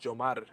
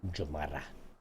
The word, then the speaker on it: Yomar: In Spanish, it's pronounced Jomar. The Y is a J sound. Jomara.